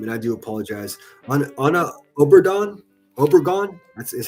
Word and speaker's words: Obregón: Ana Obregón. Is how it's pronounced.